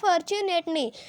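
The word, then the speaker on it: fortunately: जैसे फॉर्चुनेटली है तो FORT fort, UNA TLY first, ये जो टी है ये साइलेंट है, इसमें फॉर्च्यून, टी को च्यू बोले फॉर्चुनेटली।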